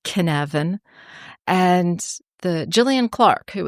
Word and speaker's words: Cynefin: But the word Cynefin in Welsh, which is spelled Cynefin and pronounced Cynefin.